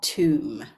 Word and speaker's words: tomb: therefore we know that the B is silent so knowing that how would you pronounce these words you can pause now um and then we will have a look at how we pronounce them um when you press play okay